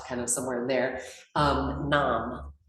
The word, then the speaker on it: Nam: Nam, and N-A-M, but like mom.